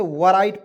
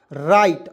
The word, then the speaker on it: write: उसके बाद देखिए WRITE, तो बहुत लोग इसे वराइट पढ़ लेता है, W से व लिखेगा और RITE को राइट पढ़ लेगा, ठीक है, राइट, तो हो जाएगा वराइट, जो कि बिल्कुल गलत है। क्यों, क्योंकि दोस्तों यहाँ पे जो है आपको W को साइलेंट रखा जाता है और RITE को राइट पढ़ा जाता है, क्या हो जाएगा, राइट।